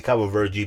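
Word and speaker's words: Cabo Verde: an english cape bird i always say cover virgie because that's the right way to say it ah meh i'm gonna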